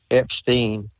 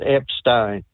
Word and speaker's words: Epstein: I keep hearing everybody saying Epstein, it's Epstein. And in German, if it's EI, that's pronounced as an I.